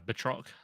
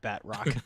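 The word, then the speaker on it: Batroc: uh he's French villain theory has the right pronunciation can you say it one more time for me uh betro betro okay that sounds way cooler than bat Rock the Batman spin-off yeah right he's a French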